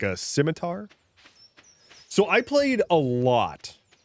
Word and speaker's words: scimitar: Um he did refer to a scimitar as a schimitar and he also did refer to rogues as rajus.